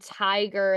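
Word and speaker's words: TIGHAR: Um, this is uh this group called Tiger. That's how it's pronounced.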